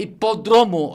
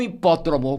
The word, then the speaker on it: hipódromo: A pronúncia correta é demócrata e não democrata, porque a palavra é de origem grega. Como a pronúncia correta é hipódromo e não hipódromo, que também é uma palavra de origem grega.